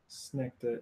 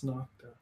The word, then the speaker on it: Snokta: it rhymes I can with remember prima nocta. that. Or it's not Nocta Snecta. Yes, that's definitely how I'll remember it. It's not Snecta. It's Snocta.